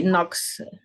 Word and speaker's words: knocks: everything of the table knocks silent k he knocks everything off the table he knocks excellent but it's a silent k it's not K knock ah no okay nox could you repeat sorry so it sounds to me like that nox ah okay okay sound no it's always silent okay thank you and